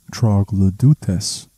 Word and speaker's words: troglodytes: It is pan troglodytes, though this pronunciation in Latin or Greek would be something closer to troglodutes.